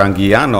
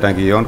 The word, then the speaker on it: Anguiano: And I've been asked, I believe I mispronounced Mr. Anguiano. I said Anguillon, of course, Mr. Anguiano, there you are.